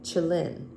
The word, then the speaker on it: qilin: To the Chinese, this word sounded very like Kalin, modern pronunciation Chilin, their name for a legendary animal resembling the Western unicorn.